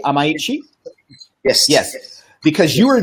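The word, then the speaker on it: Amaechi: Am I pronouncing that correctly? Amaichi?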